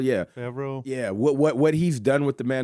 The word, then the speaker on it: Favreau: Favreau, yeah. Favreau.